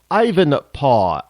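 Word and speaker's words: Ivanpah: energy Industries poster child Ivan paw i v n p a Ivan paw you know how they used to say Dad back in the in the in the 1800s PA anybody watch Little House in the prairie was Charles Les They al paw they didn't call him dad or daddy it was PAW so Ivan paw uh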